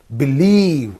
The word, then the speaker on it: believe: Believe. I can't believe that. Believe. When you drag it and pronounce it, dragging that syllable, then it gives some beauty.